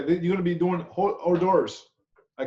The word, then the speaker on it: hors d'oeuvre: Hors d'oeuvres or hors d'oeuvre, O-R/D-E-R-V, if you don't know how to pronounce it, hors d'oeuvre, okay?